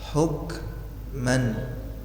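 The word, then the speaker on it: حُكْمًا: jahiliyati yaban ahsanu minallahi hukman liqaumin yuqinun waman ahsanu minallahi liquumi Cara bacanya hukman ada desah yang keluar dari pangkal lidah. Hukman bersih ya, enggak boleh ngorok.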